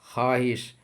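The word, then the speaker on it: خواہش: देखिए यह वाव लफ्ज में लिखे होने के बावजूद पढ़ी नहीं जाती है। यानी लिखावट में यह वाव मौजूद रहती है, लेकिन पढ़ी नहीं जाती है। जैसे ख्वाब, ख्वाहिश, खुश खुर्शीद।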